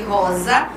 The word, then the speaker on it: rosa: Rosa, porque o R é vibrante, e azul, porque o L, ele é puxadinho, tá?